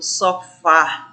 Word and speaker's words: sofá: Então, a palavra café é uma palavra oxítona, assim como o sofá da casa também é uma palavra oxítona.